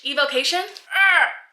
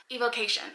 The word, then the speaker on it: evocation: with like such confidence EV evocation emphasis is on the K oh I've been really pronouncing that incorrectly evocation whenever I remember that